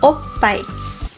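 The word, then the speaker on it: おっぱい: Porque o pai significa seios e se pronuncia o pai.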